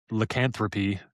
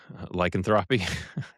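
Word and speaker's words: lycanthropy: Um the other part of this article talks about lupin and lanthropy. Did I say it right? Lyanthropy.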